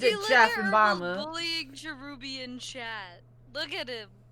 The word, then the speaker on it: Cherubi: Because it's spelled with a B. Chebby. Yeah, Cherubi.